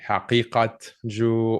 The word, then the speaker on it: Haqiqatjou: Haqiqatjou is generally how it's pronounced. The Q is what people have trouble with. It represents a qaf in Arabic or Farsi. So you can pronounce like a hard qaf, like Haqiqatjou, or softer Haqiqat, like more like a ghain sound. Haqiqatjou, either way.